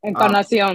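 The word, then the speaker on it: Encarnación: Encarnacion.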